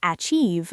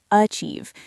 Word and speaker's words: achieve: Many learners say achieve, but it's actually achieve. The beginning is very soft, almost like a schwa sound, and the stress is on chieve.